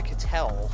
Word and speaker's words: Catel: couple of weeks ago it's a Catel. So Oh, Catel. Sorry, my bad. It's going to take a while to learn that one. I've been saying it wrong for so long. Catel, Catel, Catel, Catel, like Harvey Kitel like that.